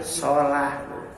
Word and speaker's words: Salah: Nama aslinya bukan Salah, tapi Sholah. Tapi setelah ditulis pakai bahasa ejaan yang disempurnakan jadi Salah.